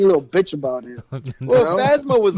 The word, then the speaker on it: Phasma: Phantasm. I'm sorry. Oh, Captain Phasma.